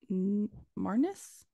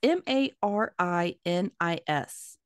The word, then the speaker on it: Marinis: Marnis? It's Marinis.